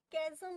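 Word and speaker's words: chasm: इसको कैजम pronounce किया जाता है।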